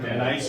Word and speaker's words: Van Nuys: California, Van Nuys, California, the original clinic, 71 years ago.